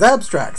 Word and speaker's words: Xabstrax: it no it didn't i pronounced it right every time it's abstracts that's how he wants it he wore the guilty